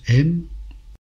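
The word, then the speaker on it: אם: Le père se prononce Av, la mère se prononce M.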